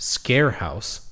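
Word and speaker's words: Sker House: any international people out there but it's actually pronounced scare house that's how freakin you know uncultured I am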